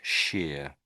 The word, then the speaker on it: shire: Um, and then anywhere you see this this this shire stuck onto the end of a word, it it's always pronounced sheer, sheer, always.